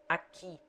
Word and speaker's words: aqui: U is silent when preceded by Q and followed by E or I. Aqui.